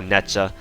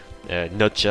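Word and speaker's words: Nezha: Oh, Netja. Nutja, I think her proper pronunciation is Nutja, and Tomoe.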